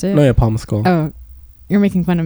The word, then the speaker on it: Paul Mescal: Is that how you pronounce it? No, yeah, Paul Mescal.